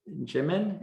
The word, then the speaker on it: Jimin: uh shane and uh is it jimin is that the correct pronunciation yeah yeah you can